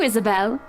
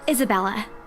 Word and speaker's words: Isabella: help us out to Isabelle sir you keep saying my name wrong Isabella right right it's a